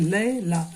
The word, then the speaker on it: लैला: नूतन, लैला, अब देखिए लैला, ऐसे आपको कठिन लगेगा, लय, तो ए आई कि ये इसका उच्चारण लय हुआ, इसका ला, तो 2 ही टुकड़ा हुआ, लय ला।